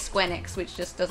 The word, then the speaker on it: Square Enix: because I found out they pronounce it Square Enix, and I've been saying Square Enix for so long because then you can say Squeenix.